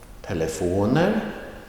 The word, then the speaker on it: telefoner: The second word, telefoner, that is on the second to last syllable.